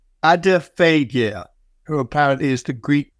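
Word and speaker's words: Adephagia: I'm going to mention, and Andreas will tell me I've got the pronunciation wrong, Adiphagia, who apparently is the Greek god of gluttony.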